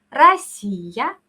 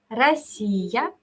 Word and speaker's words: Россия: Yo digo primero, ¿cómo se dice Rusia? En ruso suena como Россия, Россия.